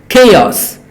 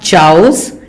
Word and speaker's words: chaos: Chaos. Next word is often confusing. People mostly pronounce it wrong. It is not chaos. It is not chaos. It is chaos.